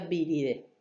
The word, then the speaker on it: viridae: Los nombres de las familias de virus tienen el sufijo viride o se escribe viride, se escribe viridae y se pronuncia viride.